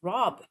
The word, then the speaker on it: Rabe: So I was like, well, maybe it's not pronounced rape then. It's Rob.